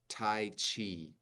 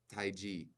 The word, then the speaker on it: tai chi: use it but anyway in America it's Tai Chi okay you hear the way that I said that but in Chinese it's Tai so if Tai G so you can you